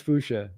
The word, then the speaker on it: fuchsia: I think it's fuchsia. That's actually, I think, right. I think that sounds right. I always want to pronounce it with the IA and it, but that's not right.